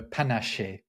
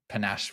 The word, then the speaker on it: panaché: They do have a drink in France called a panaché, which is, panache with an E accent on the end of it.